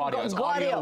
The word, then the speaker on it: Gaudio: Gaudio with a G.